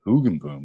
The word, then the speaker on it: Hoogenboom: Here we are with Hoogenboom. Is that how I pronounce that?